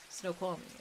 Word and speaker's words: Snoqualmie: Snoqualmie.